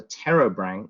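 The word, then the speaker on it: Pterobranchia: acorn worms there's also this group called the terra branch it's a silent p with um about 30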